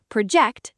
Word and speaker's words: project: And sentence five, project stress on the second syllable verb form, meaning to estimate or forecast.